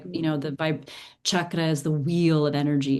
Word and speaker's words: chakra: Am I pronouncing that correctly? Now, because Mhm. I'm so used to saying chakra, chakra, Yeah.